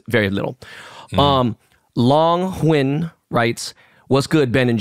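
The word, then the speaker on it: Huynh: Huyen. Huyen. Like win, but with the H.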